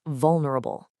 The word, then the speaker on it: vulnerable: Our third word today is vulnerable. It is pronounced vulnerabul.